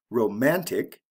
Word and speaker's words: romantic: ic ending romance romantic we also have a shift in the stress pattern romance the first syllable is emphasize romantic the second syllable is emphasized why thrifty glossy lazy